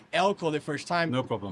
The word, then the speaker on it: Eelco: I'm sorry when I said Eelco the first time. No problem. My mistakes. It's a very Dutch name. Okay, Yes. Mr. Eelco, thank you very much to be here in our podcast, Digaí.